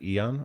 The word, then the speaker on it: eon: Eon or ion? Eon, yeah. Okay, so it's just spelled as it should be, I suppose.